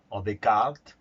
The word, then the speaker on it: Descartes: como la filosofía primero vamos a ver descartes de kart cómo se pronuncian los más eruditos que corresponde a la